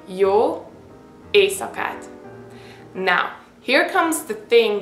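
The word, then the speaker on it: jó éjszakát: night you can say y ASAT now here comes the thing that I said you see the letter s followed by the Z okay so that's why you have to pronounce it s you don't say Y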